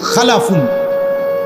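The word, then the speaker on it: خلف: উচ্চারণের মধ্যে একটু ভিন্নতা মাঝখানে একটা লাম আছে এ লামটার মধ্যে যদি সাকিন হয় তাইলে হল খালফুন আর যদি লামের মধ্যে জবর হয় তাহলে হল খালাফুন আরবি শব্দ এ খালফুন মজিদ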